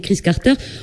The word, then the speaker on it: Kriss Carter: Alors, ce que je voulais dire, Chris Carter, parce que voilà, on dit Chris Carter, on va peut-être l'épeler pour, parce qu'il y en a, ils peuvent l'écrire autrement.